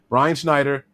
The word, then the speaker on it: Schneider: coordinator uh brian i always say his last name wrong schodenheimer schneider schneider schneider damn it brian schneider and then they did debo at the end